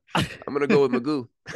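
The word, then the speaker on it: McGough: I'm going to go with Magoo. Is it M-A-G-O-O? M-C-G-O-U-G-H. I'm going to go Magoo. So we got it's basically spelled like Van Gogh.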